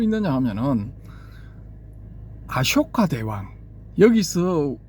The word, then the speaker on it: 아쇼카: 요런 케이스를 어디서 볼 수 있느냐 하면은 아쇼카 대왕 여기서 볼 수가 있는데이 아쇼카라는 그 표기를 원어대로 할 것 같으면은 대반화거리를 보면은 쇼가 맞거든요. 쇼 소가 아니고 쇼 쇼 할 때 그 앞부분 그이 자음 부분 요런 발음이거든요.